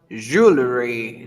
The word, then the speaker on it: jewelry: ah this one yeah I we pronounce jewelry jewelry je jewelry jewelry jewelry we pronounce it this way jewelry jewelry okay today